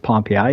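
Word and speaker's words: Pompeii: nearby that's um called pompi spelled Pompei but it's it's pronounced pompi in Michigan um so I grew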